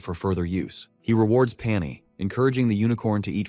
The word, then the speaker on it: Pani: Jiha, true to his terrible naming habits, calls it Pani, simply because it rhymes with pony.